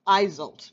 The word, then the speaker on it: Iseult: sending you their love Iseult eyes 'old that's how you pronounce it this is the